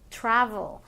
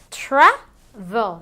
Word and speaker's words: travel: ejemplo esto de aquí, travel. Se dice travel, no decimos travel, right?